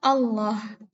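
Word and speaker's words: الله: dibaca tipis ketika dia dibaca tafkhim apabila lafadz Allah ini sebelumnya bertemu dengan huruf yang berharakat fathah dan dhomah sebagai contohnya ya ini kalau dia dibaca tafkhim yaitu dibacanya Allah terus ketika ini yang berharakat dhammah ya Ini dia dibacanya Allah ya Allah terus ketika dia dibaca tarqiq yaitu lafadz Allah sebelumnya bertemu dengan yang berharakat kasroh contoh dilihat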